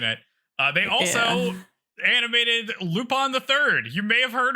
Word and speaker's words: Lupin: uh they also animated lupon theii you may have heard of it you don't pronounce it Lupin Lupin lupon I thought about naming